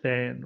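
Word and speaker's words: tanh: And down here, it looks like tan, we would than, or yeah, we would, I guess we could call it than, right? So that's how we pronounce that one.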